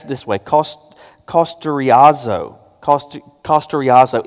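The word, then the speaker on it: καυστηριάζω: The word that's translated as seared, and the Greek is a word, you pronounce it this way, kosteriazo.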